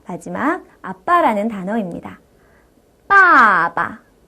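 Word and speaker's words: 爸爸: 여동생이라는 뜻인데요 메이메 메이메이 자 마지막 아빠라는 단어입니다 빠바 빠바 이렇게 다시 한번 연습하고 나니까 경성 뒤에 있는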